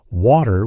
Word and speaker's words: water: but it sounds different in American English people might say water with a D sound while in British English it's often pronounced with a t- sound it's the same word